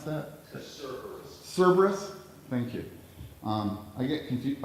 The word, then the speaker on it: Cerberus: I don't even know how to pronounce that. Cerberus.